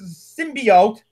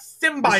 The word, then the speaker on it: symbiote: part you'll do fine the way the symbiote that is how it's pronounced by the way it's not stim by I don't know what